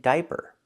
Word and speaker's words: diaper: We have these two words diamond and diaper. Here together the i, a make one sound. I that's the long i like high and by di.